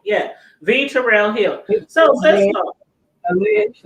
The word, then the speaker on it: V. Terrill Hill: V Terrill Hill. Yeah, V Terrill Hill.